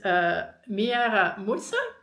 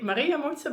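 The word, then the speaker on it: Mwaramutse: And I always want to say Maria Mutsa because I changed out the letters and I googled it and it turns out it's spelled completely differently. But Miara Mutsa is what I pronounced and most people were able to recognize it as a proper greeting.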